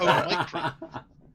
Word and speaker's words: Omicron: A lot of people are adding an N to it. Omnicron. Omnicron. Yeah. Or Omicron. Oh my god. Omicron. I would probably Yeah. pronounce it as that if I knew it.